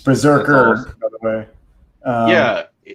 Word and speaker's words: BRZRKR: Yeah, it's Berserker, awesome. By the way. Yeah, isn't that the anime? No, it's spelled BRZRKR is how they're spelling it.